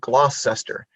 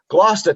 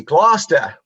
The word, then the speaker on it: Gloucester: I called it Gloucester because that's how it's spelled. And he corrected me immediately with that heavy Boston Irish accent. He said, "Gloucester, Tommy, Gloucester."